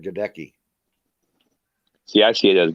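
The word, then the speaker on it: Luke Goedeke: Phonetically challenged. Yeah. I like that one. Luke Geteke, not Gaduke.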